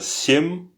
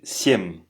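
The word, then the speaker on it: семь: Par exemple, Piats, on dit pas piat, c'est piats. On dit pas chest, c'est chest. cheste, on dit pas euh sium, on dit siem.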